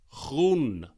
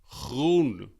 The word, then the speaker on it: groen: And in Dutch we call this groen. Groen. And this has that nice G sound at the start, the g. Groen.